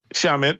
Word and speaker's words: Shamet: Shamet, how do you pronounce it? Landry Shamet. Shamet, yeah, they re-signed him.